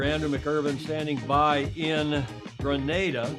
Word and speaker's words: Grenada: Andrew McIrvine standing by in Grenada, not Grenada, but in Grenada.